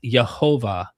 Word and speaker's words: Yahweh: Nehemiah Gordon argues that the Hebrew name of God, Yahweh, is pronounced Yehovah. He contends that this pronunciation is supported by thousands of ancient manuscripts and represents the original Hebrew rather than the more common academic Yahweh.